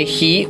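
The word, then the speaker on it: οἱ: Ese hi, o para que usted entienda, hoy esa expresión que se pronuncia hi, allí como lo tenemos, es el artículo en caso nominativo, género masculino y número plural.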